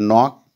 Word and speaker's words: knock: knock in given word knock K remains initial K remains silent so it has been